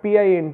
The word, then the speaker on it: pint: Say for example, mint is mint but pint is pint, or say for example to is to and go is go.